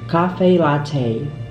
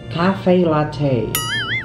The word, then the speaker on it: cafe latte: pronounced it's two it's two words two words and the pronunciation is cafe latte cafe latte cafe latte um cafe